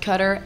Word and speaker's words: Qatar: Force Base in Qatar I've been told it's pronounced cutter and Qatar I'm not sure but Al ude is